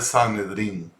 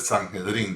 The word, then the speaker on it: Sanedrín: Está hablando del Sanedrín, o el Sanhedrín, depende de cómo alguna gente lo pronuncia.